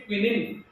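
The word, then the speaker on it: quinine: हिंदी में कुनेन इंग्लिश में क्विनिन।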